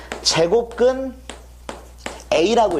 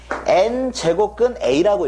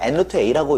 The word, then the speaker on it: n제곱근 a: 얘를 부를 때 얘는 n제곱근 a라고 읽어요. a의 n제곱근은 n개의 수를 말하는 거예요. a의 n제곱근은요. n차 방정식을 만족하는 모든 해를 토탈해서 부르는 게 이거고 a의 n제곱근이고 이 특정한 하나를 읽을 때는 n제곱근 a라고 읽어요. 근데 보통 n루트 a라고 이렇게 많이 읽기도 하죠. 근데 그거는 잘못된 거고 n제곱근 a다 이거 하나만 부를 때는요.